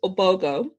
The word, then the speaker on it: Ogbogoh: my last name is obogo the h is silent i know um and